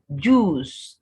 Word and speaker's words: juice: Then juice, not juice. The UI in this word is just like the UI in fruit.